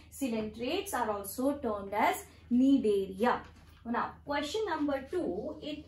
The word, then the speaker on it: Cnidaria: The C is silent. We term them as cnidaria.